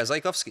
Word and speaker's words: Zajkowski: Yeah, Zajkowski.